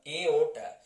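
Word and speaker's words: aorta: पिला माने एठी आर टी साइलेंट रहइबो आको हमें प्रोनाउंस करिबा एओटा माने पिला माने सपोज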